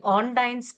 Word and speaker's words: Ondine: of the disorder which we call as the ondine curse where this involuntary breathing becomes a voluntary breathing for these people.